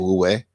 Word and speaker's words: Wu Wei: And how you say it, Wu Wei.